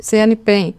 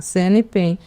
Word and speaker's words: CNPEM: CNPEM. Assim que eles pronuncia? falam. Ah, tá, CNPEM.